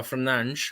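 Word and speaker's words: Fernández: Enzo Fernandez or rather Fernand however you want to pronounce it right has HZ Fernandez well it depends where you're from right some say fernan some say Fernand right that's what I'm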